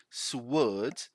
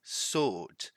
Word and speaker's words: sword: edged sword so much the pronunciation here is not swerd here that word is not a word that one blimey that would it's not a word ace sword sold double edged sword this is an idiom